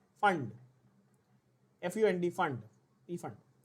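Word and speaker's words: Pfund: पी फंड, पी फंड, FUND, फंड, पी फंड। नाउ the name actually is फंड, द पी is silent, but we call it पी फंड so that बच्चों को spelling याद रहे।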